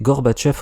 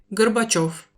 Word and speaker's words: Горбачёв: C'est à cause de ça qu'on appelle ce mec Gorbatchev en français, alors que son nom est... Горбачёв, Je vois pas ce qui nous empêcherait d'écrire et de dire Gorbatchev, mais l'usage s'est basé sur une transcription pourrie qui ignore la lettre Yo.